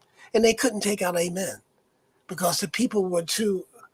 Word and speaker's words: Amen: And that catalytic agent, the Egyptians call their one God, and you may have heard this word before, is spelled A-M-E-N.